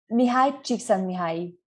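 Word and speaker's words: Mihály Csíkszentmihályi: Mihaly Csikszentmihalyi.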